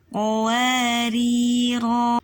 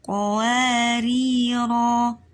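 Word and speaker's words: قواريرا: Ar-rasula as-sabila qawarira. Nah, ini kalau misalnya kita mau selesaikan diwakafkan, maka ini di surat ke 15 Al-Insan ayat 15, maka kita bacanya bukan qawarir tapi qawarira.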